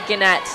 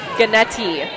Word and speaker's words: Gannetti: And that is a great serve from libero, number 4, Amanda Gannett. Sorry, I think it's Gannetti. I've been saying it wrong.